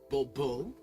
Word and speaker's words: Bobo: The emphasis falls on the last syllable. BBO.